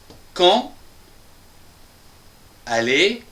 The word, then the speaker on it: quand allez: C'est-à-dire la 4e phrase, c'est une question quand allez vous à Paris par exemple ? Quand allez-vous à Paris ? Attention, ici c'est un D et un A qui va se prononcer ta.